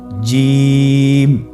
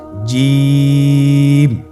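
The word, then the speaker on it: جيم: আপনারা আমার সাথে করুন জিম মাশাল্লাহ আবার বলুন জি আপনারা চেষ্টা করুন হয়ে যাবে এর মাখরাজ হলো জিহ্বার মধ্যখান তার বরাবর উপরের তালুর সঙ্গে লাগিয়ে উচ্চারিত হয় আপনারা পিকচারে ছবিতে দেখতে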